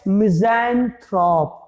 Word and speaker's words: misanthrope: पहला वर्ड है मिज़ैंथ्रोप। क्या है? मिज़ैंथ्रोप।